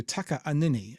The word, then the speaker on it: Takaanini: to change it to Taka anini it's t a k a a n i n i and it is pronounced with the split in it um I believe that